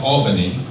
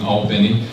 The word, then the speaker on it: Albany: all painting Georgia now it's felt like Albany but I learned quickly when I was in Albany that in Georgia you pronounce it Albany and I played American